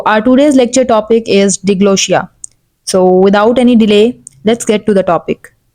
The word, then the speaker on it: diglossia: Okay, so that we can understand the term diglossia, or either we can also say it diglossia, or there can be various pronunciation of this particular word.